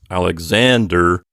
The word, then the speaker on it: Alexander: you know we say Alexander with the accent on the next to last syllable Alexander but in ancient Greek